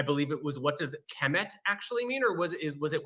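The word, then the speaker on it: km: So when we're saying kem, we're assuming a kind of short E between the K and the M, but really what we just have is K and M, but we pronounce it as kem for convenience sake.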